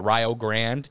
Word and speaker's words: Rio Grande: thing right now uh Rio Grand yes that's how they say it in Ohio uh yeah yeah not Rio Rio um and they got